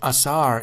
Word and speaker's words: Osiris: Incredibly, the name Osiris, pronounced Asar in Egyptian, was written in hieroglyphics